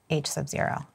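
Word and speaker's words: H₀: the alternative hypothesis so what how do you pronounce it h Sub Zero this is in case you're wondering in the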